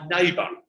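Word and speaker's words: Naybа: And sometimes people say to me, Matt, why Neighbour? And it's spelled unusually, it's spelled N-A-Y-B-A.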